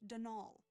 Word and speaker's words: Donal: the caretaker Donalda Lanie not Donald mind you there's no D at the end so it's pronounced dnal that's the way you're